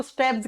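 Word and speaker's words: stapes: ये मैंने कहा था इस स्टेप्स को हिंदी में हम स्टेपीज लिखते हैं लेकिन जब प्रोनाउंस करते हैं तो इसको स्टेप्स कहा जाता है एक कान में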